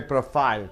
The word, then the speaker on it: profile: First, profile being a noun, you have to stress the first syllable. What is syllable? The vowel joining with the adjacent consonant to give a sound. Profile. So first syllable should be stressed.